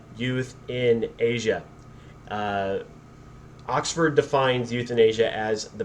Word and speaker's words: euthanasia: um and it's pronounced youth in asia all right that it doesn't look like euthanasia because it starts with an e but youth in asia oxford defines euthanasia as